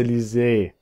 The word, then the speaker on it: Lise: Ich habe mal Liz gesagt. Aber es heißt ja Lise.